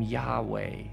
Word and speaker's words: Yahweh: Now some pronounce the name Yahweh or Yahweh, although in many traditions, the name isn't even pronounced because it's considered so sacred, so mysterious, so holy.